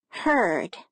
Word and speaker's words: herd: Now listen to the word herd. It has a different vowel sound. Herd. The E changes sound because the R follows it.